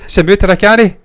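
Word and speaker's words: Samuthirakani: name again, Ruth, because I've already forgot the pronunciation. Samudrakani.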